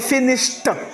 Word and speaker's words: finished: Voilà, donc, avec finish, mash, le ED se prononce t. Donc, on va dire finished, mashed.